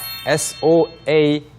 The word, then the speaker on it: soaked: S-O-A-K-E-D를 이렇게 쓰시면 되고요. 마지막에 발음도 soaked가 아니고 soaked를 발음해 주셔서 soaked 하시면 되겠고요. 앞에 K가 있기 때문에 soaked입니다.